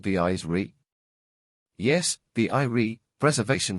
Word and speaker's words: Ire: Yes, the Eyrie, Preservation said, pronouncing it in a slightly different way. 3 letters. I-R-E.